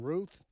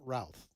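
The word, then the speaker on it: Routh: name is Ryan and some anchors on some newscast Network newscast are saying Ruth it's spelled r oou t some are saying ralth right either one we'll get it nailed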